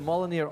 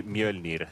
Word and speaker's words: Mjolnir: Well, if you want to correct the pronunciation, it would be Mjolnir. That would be the accurate one.